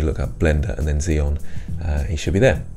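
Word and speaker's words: Xeon: do you spell that that's with an X so like the Zeon processors I think are like that uh and master Zeon 101 or something like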